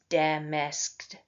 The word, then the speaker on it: damasked: Shakespeare has even gone so far as to contract damasked, which would normally have three syllables. Dam masked to two syllables by leaving out the